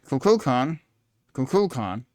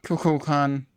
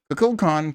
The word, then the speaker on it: Kukulkan: An ancient Mayan deity, Kukulkan, I put the L in the wrong syllable, has nothing to do with mental at all.